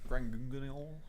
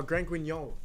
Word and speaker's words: Grand Guignol: Grangungunil. Oh, Grand Guignol. Oh. Thank you, Ashoka, telling me how to pronounce that one.